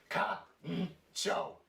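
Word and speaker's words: カンチョー: So at the top here, it would be pronounced ka-n-cho, kancho.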